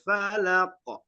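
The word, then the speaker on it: الفلق: Qul a'udzu birabbil falaq. Di koknya itu anak Bapak harus melantunkan konya karena itu termasuk huruf qalqalah.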